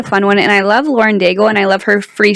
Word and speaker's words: Lauren Daigle: This newer periodical, the newest that's come out, they're talking about Lauren Daigle's new song.